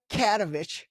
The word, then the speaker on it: Katovich: into my spiel, I'm going to say Danica Katovich because I kept on pronouncing your last last name wrong. Cats like a like a cat, I guess. Danica Katovich.